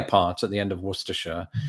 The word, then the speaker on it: Worcestershire: And a lot of people are surprised to find it's pronounced exactly as I did just there, with just the 3 syllables.